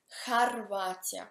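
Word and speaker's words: Хорватия: Harvatia con he.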